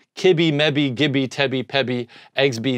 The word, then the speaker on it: kibi: So it's mebi, kibi, mebi, gibby, tebi, pebi, exbi, zebi, and yabi. That's how you pronounce them, okay?